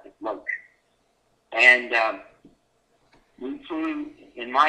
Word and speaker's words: Loach: And it was called, lovingly nicknamed, the Loach, which stands for Light Observation Helicopter, basically, and that's the way you pronounce it, Loach.